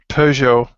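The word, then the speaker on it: Peugeot: it in English but we call it P P it's French pjo yeah sounds G anyway p and uh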